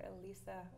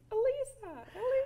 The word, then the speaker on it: Elisa: Because it's spelled E-L-I-S-A. Right. But it's not pronounced that way.